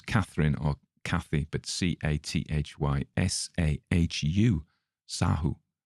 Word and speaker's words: Sahu: So don't use as Catherine or Cathy, but Cathysahu, Sahu. How else would you pronounce that?